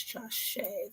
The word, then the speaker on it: Jashyah: one is it where's josh shea there we go i keep saying josh just shia that's how you uh pronounce it okay so let's start